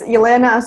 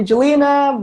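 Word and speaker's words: Alena: and my name is Alaina I have a little really tough loss name to pronounce some people call me Jelena but I mean in Russian it is Alaina you can polish your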